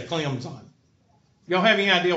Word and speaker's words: Clemson: got a junior and Clem's on you can't pronounce the T if you pronounce southern